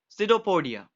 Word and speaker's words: pseudopodia: Be careful about the spelling because P is silent. We read it pseudopodia.